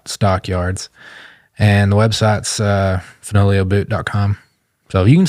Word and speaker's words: Fenoglio: uh on IG it's folio just folio bootco that's f n o g the g is silent like lasagna um there's an account